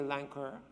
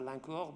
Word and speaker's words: Lancour: who are here, and I promised that the last name I would not pronounce in a French manner, so I'll start with our school advisor, Julie Lancour. I have the tendency to pronounce that Lancour, but I will not do that.